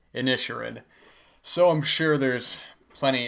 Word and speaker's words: Inisherin: even realize till recently, I've been calling the Banshees of Inisherin the Banshees of Inisherin. I heard somebody else say that, and I had to actually look it up how it's pronounced, and it is in fact pronounced Inisherin.